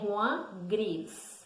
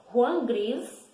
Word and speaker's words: Juan Gris: Então, está escrito Joan, a gente pronuncia Juan. Então, Juan Gris, também Juan Gris, foi um dos grandes nomes do movimento cubista.